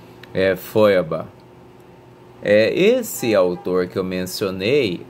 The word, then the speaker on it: Feuerbach: Eu tinha pronunciado Feuerbach. Aí fui procurar aqui, é uma coisa sofrida tentar dizer algum nome em alemão, mas vamos lá. Feuerbach.